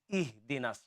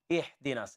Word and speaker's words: اهدنا: the next time is ihdinas, ha. This ha, focus on this ha to pronounce, make it light. Ha and ha. Ha is heavy and ha is light.